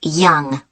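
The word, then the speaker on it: Yonge: That's spelled Y-O-N-G-E. That's Young.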